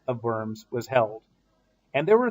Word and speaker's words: Worms: And it's not Worms, it's Worms. Worms is a city in eastern Germany where the Diet of Worms was held.